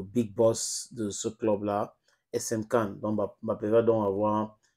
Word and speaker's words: SM Caen: Voilà, j'espère que j'ai bien prononcé. C'est quoi? SM Cannes. C'est SM Cannes. C'est SM Cannes.